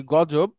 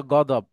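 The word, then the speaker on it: غضب: যেমন এরকম অনেক শব্দ আছে, আমরা যেটাকে বলি গজব, আরবিতে সেটা গদব। আমরা যেটা বলি কাজী, আরবিতে সেটা কদি। আমরা যেটাকে বলি অজু, আরবিতে সেটা হচ্ছে উদু।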